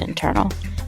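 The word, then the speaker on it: Intrnl: No vowels, pronounced Internal.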